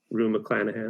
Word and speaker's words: Rue McClanahan: upset, and she goes to Vivian, played by Rue McClanahan.